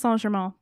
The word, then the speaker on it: Saint Germain: It is pronounced Saint Germain.